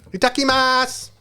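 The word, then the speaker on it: いただきます: um a tacky Mass itakimasu but it's a takimasu written but the U is um silent so attacking mat so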